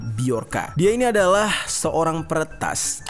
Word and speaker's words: Bjorka: hai hai Hai senyum nama biarkan tulisannya bhejo RK Ya seperti tulisan nama anaknya Agus Ringgo ini mana Kalau dibacanya bukan Bejo RKA tapi biarkan dia ini adalah seorang